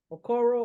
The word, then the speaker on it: Okoro: Okoyo? Ain't it Okoyo? Okoyo? No. Okoro or RJ?